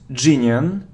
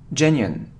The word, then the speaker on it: genuine: surround surround okay so it isn't geniun no it's look genine genuine genuine it isn't regime or